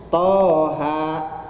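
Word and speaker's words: طه: harokat coret panjang gitu nah cara membaca fathah berdiri atau Fatah panjang ya dibaca satu Alif atau satu ayunan satu Alif atau satu ayunan contohnya Toha seperti itu yang kedua ya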